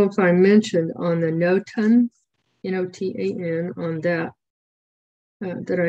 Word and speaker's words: Notan: If you do a Google search for that, Notan, some people, I used to call it Notan, but when I looked it up for how to pronounce it, it's Notan.